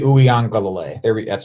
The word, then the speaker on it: Uiagalelei: they feeling after that game, specifically with DJ Uiagalelei? I probably missed that. Okay. Did I say it right? Sounded good to me. All right, DJ Uiagalelei.